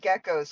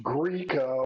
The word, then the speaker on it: Gecko: It's This one, pronounced Greco. no, it's Gecko.